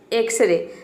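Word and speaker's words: X-ray: वो वर्ड क्या है एक्सरे एक्सरे मतलब होता है एक्स रे यहां पे देखिए शुरू में x आया है लेकिन यहां पे एकस रे एक्स को हम x प्रोनाउंस कर रहे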